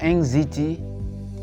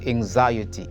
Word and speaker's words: anxiety: is this word while some people read it anxy or anxiety the correct way of saying it is anxiety it's very easy to